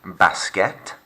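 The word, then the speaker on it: baskets: chemise over to you shimmies up de basquet silent s day basket and day think about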